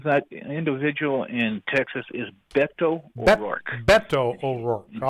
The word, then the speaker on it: Beto: man your battle stations sailor yes sir the pronunciation of that individual in Texas is Beto Beto overall all right got it thank you